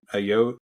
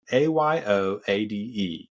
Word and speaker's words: Ayoade: Ayoade, something like that. Ayoade for the listeners.